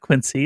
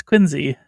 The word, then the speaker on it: Quincy: It's not Quincy. It's Quincy. Quincy.